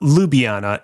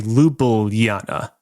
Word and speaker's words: Ljubljana: It's not Ljubljana. It's actually Lubilana spelled LJ L.